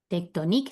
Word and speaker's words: tectonique: La Sierra de la Candelaria, presente o present, Presente, present, detrás, sin la S, detrás, detrás, de activité, d'activité, tectónique, tectonique. Siempre acentuamos la última sílaba, ¿sí?